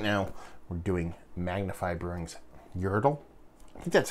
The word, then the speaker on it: Yertle: it's happening right now we're doing magnified brewings Yertle hey that's how you say it it is